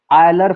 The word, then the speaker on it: Euler: Next topic आता है आयलर formula या यूलर फॉर्मूला, जिसको जिस नेम से ही प्रोनाउंसिएशन करना हो कर सकता है। इसे पढ़ते यूलर हैं, बट हिंदी में आयलर भी लिखा रहता है कहीं कहीं और कहीं कहीं यूलर लिखा होगा।